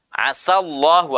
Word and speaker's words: asallahu: Iya, ada juga kalimat asallahu. Asa itu huruf sin. Sa itu dibaca dengan tipis.